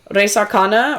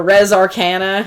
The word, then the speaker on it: Res Arcana: Res Arcana or Res Arcana, however you want to pronounce it. What was that again? Say it one more time. Res Arcana.